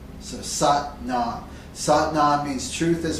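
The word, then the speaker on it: Sat Nam: set not sucked not it rhymes with but mom so suck not sought nod means truth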